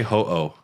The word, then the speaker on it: Ho-Oh: How do you say Ho-Oh?